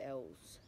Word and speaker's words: Ellees: Nah, like, the H is silent in it. Yeah, so it's L's. L's L.